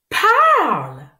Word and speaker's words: parle: Quand E est à la fin de ce mot, E ne se prononce pas. Chut. Silence. P. Arl. P. Arl. P. Arl. Parle.